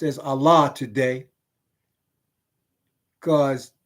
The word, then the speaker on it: Allah: They added an A and they called it Allah, but it's four letters. Those four letters are pronounced like the word all because it's ALL, like the word all with an H on the end of it.